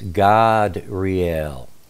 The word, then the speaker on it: Gadreel: generally you would say gadreel or gadreel the way it's spelled but you know back in those days ancient times the a is always pronounced ah so it's God real just so that you